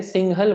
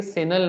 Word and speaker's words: सिंहल: Actually Sanskrit है जो भी है, सिंहल बोलते हैं एक्चुअली। तो ब्रिटिश ने उसको बाद में आके सेनल नाम दे दिया, ठीक है, वो उनके प्रोनाउंसिएशन से।